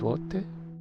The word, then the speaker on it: złote: How it's pronounced złote.